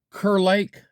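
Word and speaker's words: Kerr Lake: And we are at Kur Lake.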